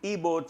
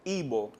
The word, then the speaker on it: Igbo: This is from the Igbo tribe of Nigeria. Igbo? Igbo.